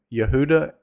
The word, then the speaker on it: Yehuda: Amoz, which he saw concerning Yehuda and Jerusalem, which would be the names before there was no J. And so that's what it would, from my understanding, that's what it would have sounded like.